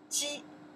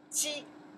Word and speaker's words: 鸡: okay the next one okay this one here pronounce 鸡 yeah 鸡 rooster 鸡 rooster 鸡 chicken 鸡 rooster to belong to you say rooster in Chinese you say 鸡 okay.